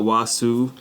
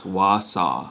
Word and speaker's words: Wausau: south arse pronunciation yeah it's not wasu it's Wausau yeah so we need